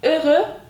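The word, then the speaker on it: heureux: biten sıfatlar mız Var öü Mutlu demek Biraz okunuşu Zor gelebilir baştaki h'yi okumuyoruz falan ama öü diye okuyoruz mutlu anlamına geliyor Bunu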